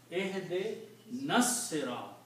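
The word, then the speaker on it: اهدنا الصراط: Also when you read these together, this noon combines with the swad and alif is not pronounced here.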